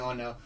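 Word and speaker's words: honour: Suppose के लिए what a sentence, what a pity, what an ऑनर। अब यहाँ पे एन का यूज हुआ है बिकॉज यहाँ पे वॉवल साउंड आ रहा है, एच यहाँ पे साइलेंट हो रहा है, तो ओ क्या है?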